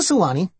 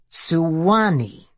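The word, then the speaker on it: Suwannee: containing music musical notes what river are we crossing the Sani like in the song the same aren't you saying it wrong asked Coleman no I'm pronouncing it right suani Serge gazed over the side of the bridge at a winding Tec colored tributary it's three syllables but in 1851 Steven Foster needed a two- syllable name of a river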